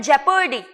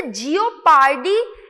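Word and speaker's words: jeopardy: Next word है जेपर्डी। अब इसे जियोपार्डी इस तरीके से प्रोनाउंस नहीं करना है। बहुत सारे लोग इसे जियोपार्डी इस तरीके से प्रोनाउंस करते हैं, जो कि एक्चुअली रॉन्ग है। इट इज जेपर्डी।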